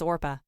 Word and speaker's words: Orpah: Her given name was Orpah, a reference to the biblical figure in the Book of Ruth. As a baby, people regularly mispronounced the name as Oprah, which eventually stuck.